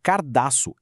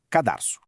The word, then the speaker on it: cadarço: A pronúncia cardaço é super difundida por aí, mas a forma que segue a norma padrão da língua é cadarço.